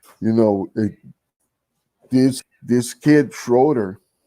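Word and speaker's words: Schröder: know this this kid schroeder oh shooter it's how it's pronounced uh didn't wanna uh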